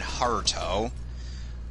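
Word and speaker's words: ハルト: I mean, then again, I could really say the same about Kite and Heart, who, in the Japanese version, their names are pronounced Kaito and Haruto.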